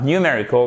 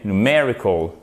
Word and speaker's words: numerical: Il s'agit de numerical, et pas numerical, mais numerical, avec un accent tonique ici.